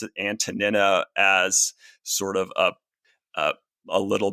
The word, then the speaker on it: Antonina: The Greek is Antonina. The middle part of her name is nu iota nu, or as we would say nin if we Englishized the words.